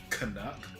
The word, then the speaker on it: Canuck: So it's Canuck. That's how it's pronounced. Canuck. Yeah. Yeah. Yeah, just think of replace the P in puck and then put the N in front of it.